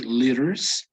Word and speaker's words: liters: right would be letters notice also pronunciation the uh t turning into a d so it would be liters this is a unit